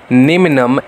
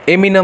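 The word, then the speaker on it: neminem: Actors Curie नेमिनम, एमिनम नहीं, actors Curie नेमिनम। अभी बंदा बोलेगा सर एमिनम, एमिनम नहीं भाई, नेमिनम ग्रेविट, ठीक है।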